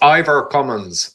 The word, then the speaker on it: Ivor Cummins: so please indulge me it's ior commin and cummings is the British cumin no I gotta cumin I gotta get it with the accent on the first syllable okay gotcha cumins okay